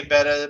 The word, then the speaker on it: betta: is and i i still call betas betas i try to say betta but they're still betas to